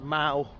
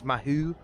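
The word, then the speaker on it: Mahou: He sells Mao, green Mao, which if you're British you would pronounce Mahoo.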